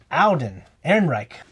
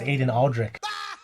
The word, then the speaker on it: Alden Ehrenreich: Man, I was pronouncing it wrong. It's Alden Ehrenreich. Man, I thought that was Aiden Aldrich.